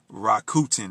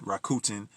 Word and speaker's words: Rakuten: Thanks to a website called Rakuten. That's how I'm going to pronounce it. Rakuten is spelled Rakuten.